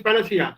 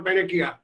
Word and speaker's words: panacea: this is solution okay this is panacea okay when you are even asking you isn't panels here or panakia so i was telling them what look everything has to be pronounced correctly and then everything has to